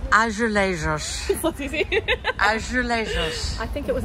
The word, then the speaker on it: azulejos: How do you pronounce it? You can do it. Azulejos. Okay. Yeah, it's harder than it looks, isn't it? It is. How do you say it? Azulejos. Azulejos.